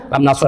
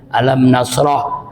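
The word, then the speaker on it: Alam nashrah: Tapi jangan begini bacanya. Alam nasr, Alam Nasr. Alam nasr, Al Nasr. Alam Nasr, Alam Nasr. Alam Nasr, Alinsir. Alir. Jangan begitu baca lengkap. Auzubillahiminasyaitanirrajim. Bismillahirrahmanirrahim. Alam nasroh laka shodradna wizr alladzi anqod zuhr warofnaikro.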